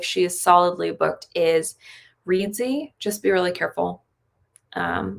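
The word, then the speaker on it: Reedsy: could go if she is solidly booked is readsy just be really careful um reedzy is spelled r-e-e-d-s-y and they do have editors there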